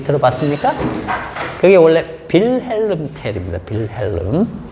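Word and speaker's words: Wilhelm: 빌헬름. 음. W가 어 배 소리가 납니다.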